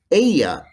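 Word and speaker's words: ella: espaciente he is patient aya ace she is like a is delgada she is thin remember that spanish double l is pronounced like an english y so those words are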